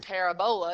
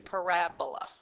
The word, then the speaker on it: parabola: called a parabola and the emphasis is on the middle syllable Rab so instead of being parabola it's actually parabola okay and so the